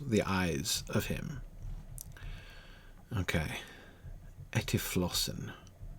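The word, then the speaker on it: ἐτύφλωσεν: Etiflossen. Stress on the second one. Etuflossen has blinded the ophthalmos autu, the eyes of him.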